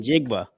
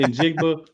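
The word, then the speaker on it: Njigba: Charles Barkley stuff tonight I don't wanna I don't want to say injigbo because it sounds too close to some certain words for me so I'm just gonna that's how you pronounce it it's like nope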